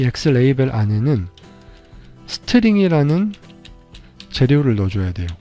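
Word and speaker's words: xlabel: x라벨이라고 하는 건데요. 영어로는 x레이벨이라고 읽어요. 그렇게 한 다음에 이 x레이벨 안에는 스트링이라는 재료를 넣어줘야 돼요.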